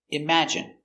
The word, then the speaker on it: imagine: at the pronunciation pronunciation imagine M im a im J J strong sound image I imag imagine imagine stress on the second syllable imagine imagine imagine imagine